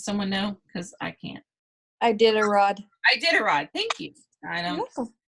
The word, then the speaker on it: Iditarod: Iditarod.